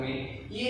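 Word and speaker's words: μ: 1 micron बराबर, ये symbol जो है इसको बोला जाता है म्यू। क्या बोला जाता है, इस सिंबल का जो उच्चारण और प्रोनाउंसिएशन होगा उसको बोलते हैं म्यू।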